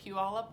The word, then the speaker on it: Puyallup: sister lived 25 minutes from the clinic and Puyallup I know how to say it now Puyallup Washington and I called her and my cousins